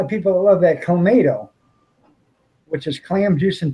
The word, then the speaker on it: Clamato: Clamato. It's Yeah, clam that's juice the- and tomato.